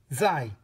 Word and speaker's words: 在: these three um characters the first character is pronounced Z the second character is pronounced Z and the third character that we will be learning is pronounced Z you may notice something that all of these three characters are actually fourth tone characters right they're all fourth